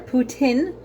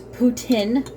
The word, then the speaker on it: poutine: going to be making a poutine or a putin as it is supposed to be called but everybody calls it a poutine is not a big deal i'm sure somebody's